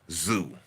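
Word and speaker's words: Tszyu: on here and say it's pronounced Zoo cuz I say I say Tim to zoo it's pronounced Zoo get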